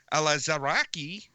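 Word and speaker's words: Alazraqui: in the Superhero Squad Show voiced by Carlos elazari that's the 100% accurate pronunciation there that is how you say that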